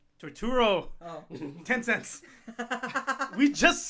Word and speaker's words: Turturro: John Tortuga? Torturo.